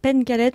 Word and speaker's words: Pencalet: prononce dans le Finistère en breton en fait on accentue les les consonnes de fin de syllabe donc on dit Pen